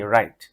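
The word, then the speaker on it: write: যেমন ডবলিউ আর আই টি রাইট লেখা। তো এই ডবলিউ টা কিন্তু উচ্চারণ হচ্ছে না।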